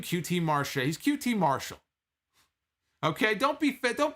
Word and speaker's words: QT Marshall: on one making his aew in-ring debut against qt marshall i'm calling him qt marshall all of a sudden they're calling him qt marshall until when did this begin when did this start he wasn't qt martial a year ago did he decide that i'm